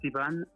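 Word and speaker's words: Iván: It's Ivan. It's Spanish, but it's kind of hard to pronounce.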